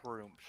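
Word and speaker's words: Gruumsh: Well, It's Groomsh. I'm saying it wrong.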